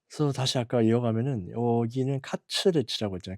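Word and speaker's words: カツレツ: 그래서 다시 아까 이어가면은 여기는 카츠레츠라고 했잖아요. 카츠레츠. 이게 커틀릿. 영어 커틀릿에 이제 일본식 발음인데 발음이 안 돼 가지고 했어요.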